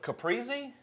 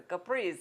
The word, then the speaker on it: Caprese: The trouble with this dish is pronouncing it properly. It's a Caprese. It's a Caprese.